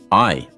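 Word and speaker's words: hay: we use the word I spelt h a y not like hey though in Spanish the H is silent and so we pronounce just the A and Y it's pronounced like the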